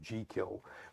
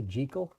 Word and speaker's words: Jekyll: By the way, he pronounced it Jekyll, but Oh, really? yes, Oh, yeah? he insisted that was the Scottish pronunciation.